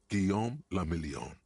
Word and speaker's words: Guillaume le Million: Guillaume le Million. If it doesn't rhyme, you're not pronouncing out of the dazzling swirl of disco music in an open-air boîte de nuit somewhere in Revachol West.